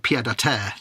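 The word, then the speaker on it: pied-à-terre: So it's like we have phrases like pied à terre, which isn't correctly pronounced, but it works in English.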